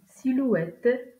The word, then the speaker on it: silhouette: D'un H, une silhouette, la sympathie, un bonhomme. Dans ces exemples, on ne prononce pas la lettre H.